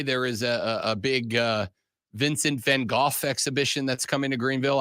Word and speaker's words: van Gogh: However, why were we lied to as children and told it was Vincent van Gogh? that is a widely accepted English pronunciation of it. In Dutch, it's Van Gogh. It's really Van Gogh.